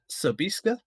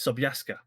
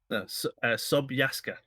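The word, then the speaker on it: Sobieska: actually responded uh because i was thinking it was either sabiska or sabaiska so so by iska but it's sobyaska sobiaska exactly this is why we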